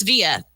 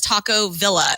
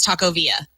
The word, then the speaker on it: Taco Villa: If you read it correctly, it's Via. It's Via, but everybody says Taco Villa. And I'm like, that's not how you say it. It's Taco Via.